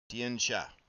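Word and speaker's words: Tian Xia: How pronounce Tian Jai? Tian Sha.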